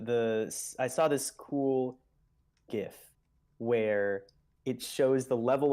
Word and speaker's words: GIF: I saw of um good job pronouncing it correctly thank you that's an old yeah exactly I've probably upset some people but the original Creator said it's GIF shut up so anyway